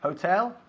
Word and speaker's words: hotel: Hotel, hotel, pero hay que aspirar un poquito la H. Hotel, como si estuviésemos limpiando un espejo, ok.